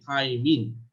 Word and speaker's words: thymine: তো এই থাইমিনের উচ্চারণ কিন্তু থাইমিনই হবে, থায়ামিন না, কারণ থায়ামিন একটা ভিটামিন, তখন বানানটা অন্যরকম হবে।